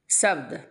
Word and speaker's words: शब्द: তাহলে ক से 4 শব্দ, যেটাকে বাংলায় শব্দ বলে, হিন্দিতে মানে ও উচ্চারণটা হয় না, शब्द।